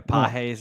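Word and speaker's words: Pagés: Is that how you pronounce it? Pajas? Yeah, apparently it's not Pajas? Andy Pages. Yeah, Pajes or whatever.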